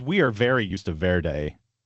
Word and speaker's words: Verde: Yeah, you look it up on Marryiam Webster and it says verd.